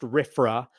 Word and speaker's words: RFRA: It's usually pronounced RFRA.